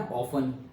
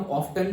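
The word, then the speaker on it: often: Okay, जैसे वो word है ना ऑफन, तो पहले हम ऑफ्टन बोलते थे, उसको बोलते थे टी. फिर हमारे ही टाइम पे वो आया कि भाई टी को साइलेंट रखो.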